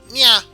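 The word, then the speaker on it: ニャー: meow, but in Japanese, meow is pronounced nya, which is N-Y-A and another A.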